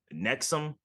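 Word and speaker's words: NXIVM: people who were in this cult called nexum uh it's called it's spelled like nxv IVM whatever something like some kind of weird spelling but um it was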